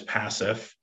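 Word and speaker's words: PACIF: property and casualty inter-municipal fund also known as passive in the vlct employment resource and benefits trust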